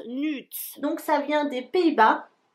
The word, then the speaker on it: Nuud: D'après Google Traduction, ça se prononce Nude.